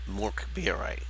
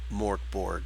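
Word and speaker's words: Mörk Borg: put out and it's based on Morkbire, which is Swedish. That's how you say it in Sweden. If I butcher it, my apologies. I love you guys. You're great. But when Morkbire or Morkborg, if you read it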